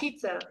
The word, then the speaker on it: pizza: இல்ல, இப்ப வந்து டீ வந்து சைலண்ட் இல்ல. டீ வந்து லெட்டரை ரிமூவ் பண்ணிருக்காங்க. ஆனா டீயை உச்சரிக்கணும். ஓகே ரிமூவ் பண்ணிருக்காங்க. Okay sorry sir. ரிமூவ் பண்ணிருக்காங்க, ஆனா அது உச்சரிக்கணும். that is a kind of